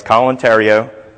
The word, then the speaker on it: Colin Theriault: It's kind of a unique combination, but it rhymes with Stalin stereo, not stolen throat or any other weird thing, but it's a handy way to remember how to pronounce it.